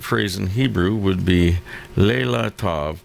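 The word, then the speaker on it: לילה טוב: so the appropriate phrase in hebrew would be leila tov pronounced lila tovi or you were way off yeah i'm glad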